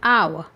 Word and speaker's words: hour: He will be there in an hour. H-O-U-R. We speak, its pronunciation is hour.